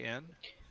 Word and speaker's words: Jean: Name is Jean, like the French pronounce it Jean.